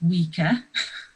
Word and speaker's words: Weka: and New Zealand pencils spelt wek a pronounced weaker nose nice sweater and what